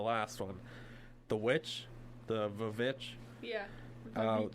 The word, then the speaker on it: VVitch: It is the VVitch, as in, because we use W's all the time now, but when they spelled it, it was 2 V's instead, and they would pronounce it as a W.